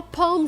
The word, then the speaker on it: palm: is pronounced palm tree when you see Al M it's a special pronunciation it's not the long o like no and go it's the sound a like saw and law what about the L we don't really make the L the tongue doesn't touch